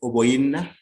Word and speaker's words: Oboyina: Oboyina, I got this pronunciation from my colleagues in West Africa. Is pronounced as Oboyina, is a childless woman in this play.